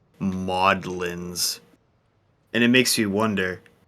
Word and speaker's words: Magdalene's: Emma's like, I played this game for a full year before I learned that Magdalene's is pronounced Maudlins.